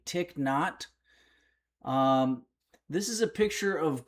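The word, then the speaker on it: Thích Nhất Hạnh: Thitchin Hat. I found out the pronunciation's actually Tick Not.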